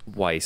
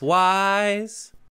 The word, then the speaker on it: Weiss: calling it twice weiss is it white or wise i've heard a lot of people say wise wise i'm not saying wise it's not spelled like wise it's a ver it's a valley thing so weiss so i was